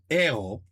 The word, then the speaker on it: héros: Hero. You don't pronounce the H, right?